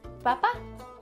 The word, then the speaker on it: papá: Papá in Spanish is papá. Same thing. Sounds similar. Just a little accent on the end. So it's papá.